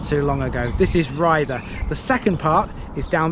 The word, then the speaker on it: Ryther: This is Rhither, although I pronounced it Rhither in an episode of the Parish Notice Board not too long ago. This is Rhither.